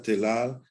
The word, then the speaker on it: telal: La palabra telal de origen turco comprende 2 sílabas y es de acentuación aguda, quiere decir sobre la última sílaba.